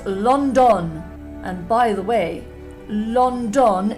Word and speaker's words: London: It's got 2 ONs in it. That is pronounced on. Both are pronounced differently to on, and then on top of it, they both sound different in the same word.